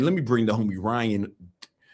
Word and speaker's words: Ryhan: Anyway, man, let me bring the homie Ryan. Ryan. All right, let me. All right, guys, hold up. His name is Ryan, but it's spelled RYHAN.